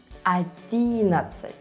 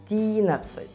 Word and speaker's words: одиннадцать: Hãy so sánh, vui lòng: Nói "одиннАдцать" là một sai lầm rất phổ biến. Và nhân tiện, đây là cách phát âm của 11 âm và tiếng Belarus, nhưng trong tiếng Nga là , .